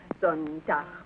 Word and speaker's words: Sonntag: Sonntag, Montag, Dienstag, Mittwoch. That is good, but pronounce the words broader, so Sonntag, Montag, Dienstag, yes?